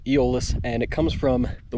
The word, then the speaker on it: Eolus: out it's in the guide book uh it's pronounced eolis and it comes from the word aolis um